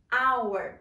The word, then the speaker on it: hour: Hour. Tem o H lá, mas nós falamos hour.